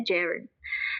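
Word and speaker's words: gerund: Tulisannya gerun ya, tapi bacanya Jaren.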